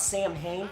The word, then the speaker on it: Samhain: Before any of you smartasses out there start going, it's pronounced Samhain.